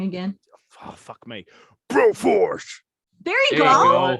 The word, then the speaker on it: Broforce: So today we've covered It Takes Two, Mike Tysons Punchout, and Broforce. You said it wrong again. Oh, fuck me. Broforce.